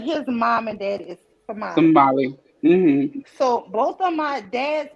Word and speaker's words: Somali: you say it too they do not say somalian they say somali so somali tamales are